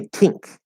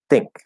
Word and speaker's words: think: not a normal t don't say tink okay that's that's completely different that is not the standard normal way to pronounce american english i know there are some dialects that do that and that's fine in those dialects but not in regular american english so make it flat